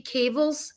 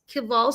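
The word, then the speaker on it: caval syndrome: it was called ca cable kaval syndrome. Cable how do am I saying it wrong nami? Cavala syndrome. Kaval syndrome.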